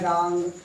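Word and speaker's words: wrong: है तो W का प्रोनाउंसिएशन नहीं होता है, साइलेंट हो जाता है। आपका यह है रैप, यह है रिंग, यह है रॉन्ग, यह है रिस्ट।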